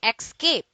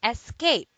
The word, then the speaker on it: escape: dates to escape escape don't say X key do say escape it is a verb at